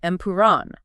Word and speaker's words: Empuraan: Oh, the correct pronunciation of L2 Empire is actually Empiron.